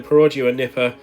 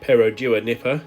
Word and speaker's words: Perodua Nippa: truly unexceptional cars yes we're back in the perua Nipper or should I say perodua Nipper I stand corrected apparently that's how you pronounce it on our way this time to